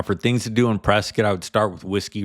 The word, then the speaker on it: Prescott: for a starting point next up we have Prescot definitely don't pronounce it Prescott You' be corrected by the locals they're pretty